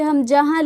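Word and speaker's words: ء: ये हमजा उच्चारण इसका अ होता है।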